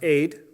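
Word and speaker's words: עד: something these two were these two letters it's like an a and a d sound are pronounced aid and it is a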